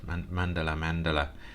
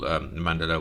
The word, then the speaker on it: Mandala: I think that's how you pronounce it. Mandala.